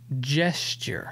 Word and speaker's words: gesture: and you corrected me gesture so i think i need i need to just remember like jester like a court jester but just jerk haven't